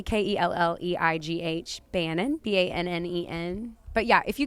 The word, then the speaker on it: Bannen: If you can spell it. Yeah. But so it's Kelleigh, Kelleigh, Bannen, Bannen.